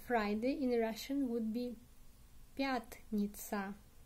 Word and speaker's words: пятница: And Friday in Russian would be пятница. Пятница. Stress on the ya.